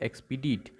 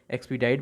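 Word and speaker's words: expedite: एक्सपीडाइट भी कोई पढ़ता है। अगर आपको स्पेलिंग याद रखनी है तो आप इसको एक्सपीडीट ही पढ़ेंगे। एक्सपीडाइट अगर पढ़ते हैं तो आप वैसे करिए। मेरे को तो एक्सपीडीट करके स्पेलिंग याद हुई थी, क्योंकि आपको वहाँ पे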